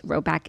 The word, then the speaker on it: Rhoback: The colors are unreal, the vibe is immaculate, and if you haven't peeped the new Roback yet, this is your sign.